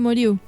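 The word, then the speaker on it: Meirieu: Philippe Merieux, ¿cómo se pronuncia? Philippe Merieux.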